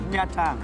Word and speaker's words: Nha Trang: Now, how do you pronounce this area? Nha Trang.